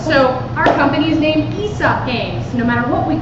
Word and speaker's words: Aesop: also didn't know that aesop is esop so our company is named esop games no matter what